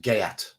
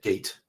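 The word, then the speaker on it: Geat: Beowulf was it yeah and that's pronounced gayat it's they're so in the book Beowulf was a gayat how many people said gate or gate okay urged by by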